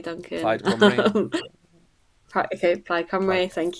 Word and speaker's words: Plaid Cymru: Plaid Cymru.